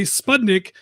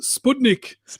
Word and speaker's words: Sputnik: it's actually funny because people pronounce it differently in australia they say spudnik and then apparently it's supposed to be pronounced sputnik so i mean whatevs